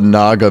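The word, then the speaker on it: Gnaga: picture of me wearing the it's called a Naga mask it's pronounced it's spelled g n a g a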